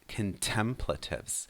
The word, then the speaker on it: contemplative: Also pay attention to the stress there, contemplative.